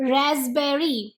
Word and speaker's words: raspberry: RASPBERRY, रास्पबेरी। यहाँ P silent है।